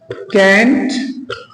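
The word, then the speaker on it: can't: भी बोल सकते हैं कांट भी बोल सकते हैं ठीक इसके दो उच्चारण हो जाते हैं एक साथ मिला के जब बोलते हैं इसको कैच कुछ भी बोल सकते हैं। ये यूएस में इस तरीके से बोलता है और यूके में बोलता है कांट।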